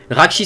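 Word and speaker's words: Rahkshi: film Bionicle le film Bionicle qui est voilà raki ça s'écrit ça s'écrit R a h K s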